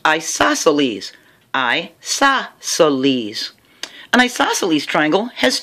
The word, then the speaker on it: isosceles: means that's how it's pronounced this one is pronounced isosceles Isles an Isles triangle has two equal sides